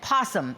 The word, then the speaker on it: opossum: Now, Donna, you may have noticed I said possum instead of opossum, because I'm told that that's how you say it here in the great state of Georgia.